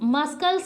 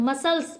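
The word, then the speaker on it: muscle: पे डेसें पढ़ेंगे और इसको मस्कल नहीं पढ़ते हैं मसल्स पढ़ते हैं मसल और सी इसमें क्या है साइलेंट म देखिए इससे मसल सी हमारा क्या हो जाता है साइलेंट इसी तरीके से सीन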